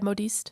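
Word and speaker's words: modiste: bill on the the mud East it's not like a dressmaker okay am I saying it right yeah modest perfect there's so many cultural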